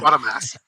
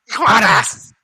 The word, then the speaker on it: Quatermass: It's quarter. Yeah. Quarter. Yeah. It's not quarter. It's quarter. It's how it's pronounced. It's British. Quarter. Give me a quarter. I need a quarter. Quatermass. Quatermass.